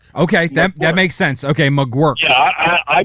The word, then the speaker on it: McGuirk: McGuirk. Okay, that makes sense. Okay, McGuirk. Yeah, I butchered his name, and I butchered Jeremy Isbell's name.